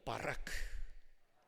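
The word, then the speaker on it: ברך: 조금 괄호가 밖으로 나가야 되는데 한번 따라해 볼까요 바라크 거의 신대운 수준으로 발음해 주셔서 고맙게 생각합니다이 바라크 동사는 세 가지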